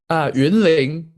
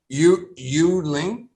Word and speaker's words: Yunlin: Yunlin. Yuling? Yunlin. Yunling. YUNLIN. Yun. So in English, like it's like pinyin, right? We don't pronounce the Y. We would say Yunling.